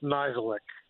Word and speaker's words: Nisic: I appreciate the effort I don't take it personally if my name's ever mispronounced but it is just nisic okay now hold on